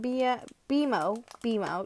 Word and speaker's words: BMO: Okay, but we can collect Jake, Finn, BMO, yeah, that's how you say it.